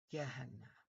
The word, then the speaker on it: Gehenna: was actually I believe the Akkadian was actually used and it would have been pronounced it would have moved over as a gh sound. So it would have been Gehenna.